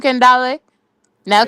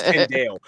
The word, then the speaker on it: Kendo: Kendall now. Kendall. Kendall. Wow. His name is Kendo.